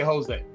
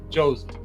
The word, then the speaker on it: Jose: My name is is pronounced Josie just like Josie in the postc.